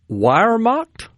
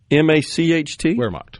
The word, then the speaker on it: Wehrmacht: So, the motorcycles, by the way, I'm not sure I could pronounce it. Wehrmacht? Wehrmacht? Wehrmacht.